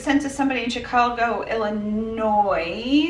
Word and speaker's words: Illinois: our commenters said specifically Illinois is pronounced without the SS I'm sorry for some